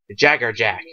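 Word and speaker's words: Jaegerjaquez: or jacks or jackz but in but bleach it's Jagger Jack so yeah just to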